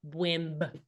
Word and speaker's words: Bwimb: You do pronounce the B. Bwimb.